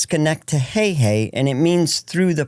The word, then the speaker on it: Schenectady: It's pronounced Schenectady, and it means through the pines.